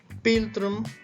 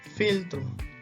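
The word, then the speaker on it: philtrum: Dice, nosotros diríamos piltrum, ¿verdad? Pero en realidad eso se pronuncia filtrum.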